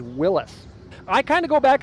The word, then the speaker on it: Willys: Also, although most people today pronounce it Willys, if you go back in time, the actual correct pronunciation is Willis. I kind of go back and forth on it because although I know Willis is correct, Willies is just like so